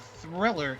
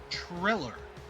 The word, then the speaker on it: Triller: It's not Thriller. It's Triller. There's no H in there.